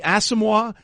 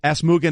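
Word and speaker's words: Nnamdi Asomugha: And it's Namdi Asomugha. He pronounced it Asmuga Namdi. So not only did he butcher both words, he transposed them.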